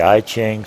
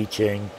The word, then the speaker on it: I Ching: Some people call it the I Ching, some people call it the I Ching. I Ching, I believe, is the proper pronunciation of it.